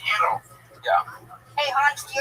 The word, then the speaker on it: gyro: Why don't you go make me a gyro, Giannis? Okay. Whoa. That's out of line. That's racist. That's racist. I'm half Turkish. I did my DNA. I'm a rape baby. So. And it's pronounced Euro.